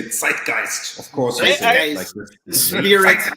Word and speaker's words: zeitgeist: Notice how American I pronounce the word, because it's actually a German word, and we would say zeitgeist, of course.